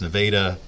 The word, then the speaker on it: Nevada: That's how it's pronounced. Nevada, Missouri.